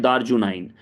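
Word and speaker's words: The RJUV9: हम इसको शॉर्ट में बोलते हैं, वी साइलेंट रखते हैं तो हम बोलते हैं दारजुनाइन, दारजुनाइन, दारजुनाइन।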